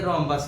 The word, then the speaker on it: rhombus: اس کو کس طریقے سے بہترین انداز میں تلفظ کے ساتھ ادا کیا جا سکتا ہے۔ یہ رومبس ہے اور یہ اردو کا کیا ہے؟